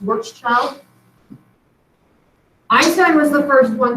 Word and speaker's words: Schwarzschild: I don't know if he was Austrian or German, but that is pronounced Schwarzschild.